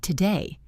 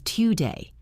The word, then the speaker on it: today: The word today is not today. It is today.